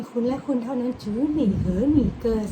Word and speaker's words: 只你和你歌: สะกด พิ เพลง คุณ และ คุณ เท่า นั้น จือ หนี่ เหอ หนี่ เกอ สะกด พ ยิน ว่า Z สส จ n เสียง